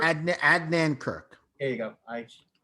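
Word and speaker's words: Adnan Virk: But Adrian Kirk? Adnan Kirk. There you go. I pronounced it So wrong.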